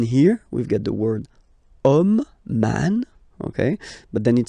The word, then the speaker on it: homme: And then here we've got the word homme, man, okay? But then it starts with H, as in French, H is not pronounced, so the first sound that we hear is O, okay?